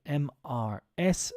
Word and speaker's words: Mrs: comment to Mrs McCabe Mrs means she is married and it's pronounced Mrs um it's yeah it's nothing related it's not related to the letters Mrs and I will highlight